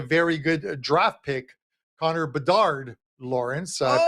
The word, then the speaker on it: Bedard: There are some very bad teams this year in the NHL, and there's a very good draft pick, Connor Bedard, Lawrence. I pronounced it correctly.